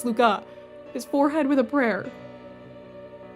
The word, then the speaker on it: Luca: water and touched his name's Luca excuse you he's dying and you got his name wrong his name's not it's Luca his forehead with a